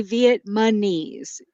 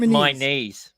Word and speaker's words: Vietnamese: Viet Viet you get you say Viet mes you switch the m and the N that does not sound correct I think you guys are not listening close enough you're saying Viet Vietnamese there you go yeah